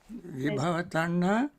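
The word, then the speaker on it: vibhava-taṇhā: hope I pronounce it right, Tina Midha and Vipara Tanha. So the sloth and torpor, and then the craving for non-existence. They feel that there is a connection between these two. Is that true? Vibhava tanha and Tina Midha.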